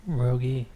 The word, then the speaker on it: Rogge: By the way, is that how you say it, Rogge? It's Rogge, yeah. Rogge.